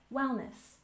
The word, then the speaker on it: Wellness: and next we have Wellness with stress on the first syllable Wellness wellness and this refers to